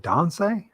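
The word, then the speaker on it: tansi: it don't say yes you pronounce that donsai yeah t-a-n-s-i yeah that's don't say it's Cree it's uh it's a greeting that's how you are but do you pronounce it like Don site or time like like a d Dante oh I learned something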